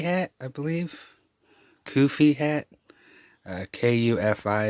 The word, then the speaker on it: kufi: Kufi is how they pronounce it.